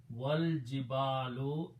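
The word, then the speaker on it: والجبال: Al jibalu, the mountains, and then put waw before that means and do not pronounce this alif. Wal jibalu, and the mountains.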